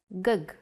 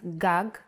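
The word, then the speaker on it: גג: If you were to see this word written, you might want to read it as gug. There is no vowel sound. In Hebrew, the vowels are often not written. You would know that this word is pronounced gag because it has been taught to you before.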